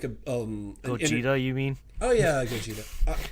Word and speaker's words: Gogeta: on which one was which I think it's goeta so you see goeta like dodging like a um Gogeta you mean oh yeah Gogeta you know I've